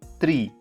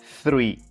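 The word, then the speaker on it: three: The key is the TH sound. You must take your tongue between your teeth and let the air flow.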